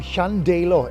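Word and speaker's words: Llandeilo: of those places is vedius's home town of clandello did i do that right clandello today i'm in chandelor in lovely camardinshire nailed it anyway vedius was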